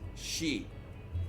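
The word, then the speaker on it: 四: that traditionally in japan the number four is seen as unlucky because it is sometimes pronounced shi or shi which is the word for death sometimes levels or rooms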